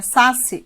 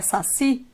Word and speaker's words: saci: Por exemplo, se eu tenho a palavra saci, a palavra não é saci, é saci, e essa palavra não